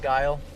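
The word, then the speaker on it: Geil: It's G-E-I-L, but it's pronounced kind of like that, though, huh? Like Guile. Roman 443 arrived.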